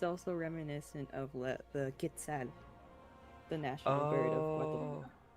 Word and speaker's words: quetzal: It's also reminiscent of the quetzal, the national bird of Oh.